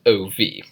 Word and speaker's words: of: word with F because it's spelled in our heads o V we say it as if it was spelled ovie so those are a